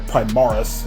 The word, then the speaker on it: Primaris: If you're not familiar with the 40k lore, this is a Primaris Space Marine, or Primaris, as it's pronounced in Space Marine 2.